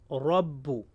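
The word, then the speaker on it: ربُّ: Whenever letter ra carries fatha or dhamma, it will be pronounced thick. As you can see on your screen, Rabbu, Ra will pronounce thick.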